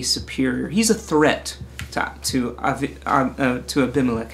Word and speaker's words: Abimelech: he's a threat to abimelech i keep wanting to use the hebrew pronunciation avi melek so he's a threat